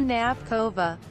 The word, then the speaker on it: Knapková: Miroslava Tabinkov, Knapkov, Czech pronunciation, Miroslava Knapkova, born the 19th of September 1980 in Brno,